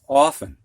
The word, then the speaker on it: often: It's often. You don't hear that T.